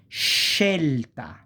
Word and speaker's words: scelta: E, or Italian E, you have sh, the sound sh, like scelta, choice.